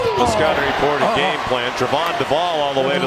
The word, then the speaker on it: Trevon: It's not Trayvon, it's Trevon.